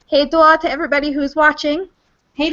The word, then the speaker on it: Hej då: Hej då. Hej då. Awesome. All right. So I'm going to hit stop broadcast. It won't hang up on everybody, but let's say hej då to everybody who's watching.